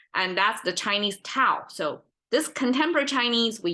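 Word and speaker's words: Dao: a more abstract right and that's the Chinese Tau so this contemporary Chinese we use d d a o to to Mark the pronunciation as that but a lot of times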